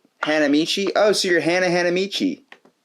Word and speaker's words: Hanamichi: then how do you say your last name hanamichi oh so you're Hannah hanamichi yeah well Hannah